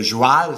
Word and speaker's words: joual: Et puis, le joual, c'est la prononciation québécoise de cheval.